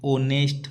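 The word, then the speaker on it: honest: इसी प्रकार आगे वाला है एन ऑनेस्ट मैन। इसमें भी एच साइलेंट है।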